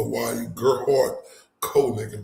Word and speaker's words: Konig: Cole Neken, that's how you say his name.